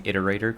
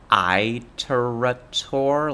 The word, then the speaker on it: Iterator: thank you for for pronouncing iterator correctly by the way so many people say Itor like it's an Apple product that's disgusting sorry people